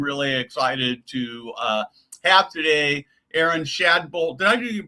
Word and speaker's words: Erin Shadbolt: Erin Shadbolt, did I do your pronunciation right?